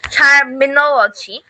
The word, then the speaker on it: terminology: It's terminology because we know long words with 3, 4 or more syllables, if it's finished with Y, then the syllable before the second last syllable is stressed on.